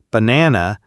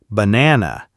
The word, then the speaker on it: banana: For example, in banana, the stress is on the second nana, banana.